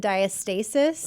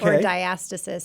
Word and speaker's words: diastasis: um it's either called diastasis or diastasis it's kind of pronounced both ways okay but I I tend to say diastasis re so do I